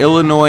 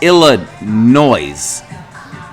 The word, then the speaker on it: Illinois: Uh, you got Illinois and Penn. One of my biggest pet peeve peeves is people saying ill noise. The S is silent.